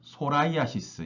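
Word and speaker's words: psoriasis: 건선 소라이아시스. 여기 앞에 P가 X 무 발음이 없어요. 음. 발음 무발음 소라이아시스라 하고요.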